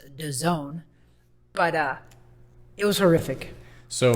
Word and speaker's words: DAZN: It's DAZN, but it's pronounced DAZN.